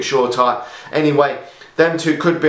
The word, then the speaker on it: Shoretire: one of them and short r i think that is how you pronounce it shorter i've always called it short time anyway them two could